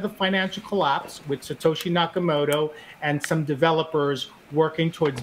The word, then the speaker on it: Nakamoto: How do you pronounce his name? Nakamoto.